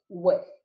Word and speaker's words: WFF: So, well-formed formula, or this will often be abbreviated WFF and pronounced WIF.